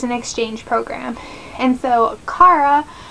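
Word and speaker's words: Cara: And so Kara, I don't know if it's Kara or Kara, but it's spelled C-A-R-A, and I had a friend with that spelling that said Kara, so I'm saying Kara, is a human, and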